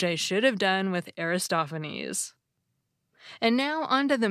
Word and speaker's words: Aristophanes: I called him Aristophanes. But it's actually pronounced Aristophanes, which I recognize immediately now that I hear it said the right way.